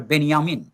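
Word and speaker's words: Benjamin: এবং সেই বইয়ে আমি অ্যাডর্নো সম্পর্কে কথা বলেছি, বেঞ্জামিন সম্পর্কে। বেঞ্জামিনকে আসলে উচ্চারণ করে বেনিয়ামিন, বাল্টার বেনিয়ামিন।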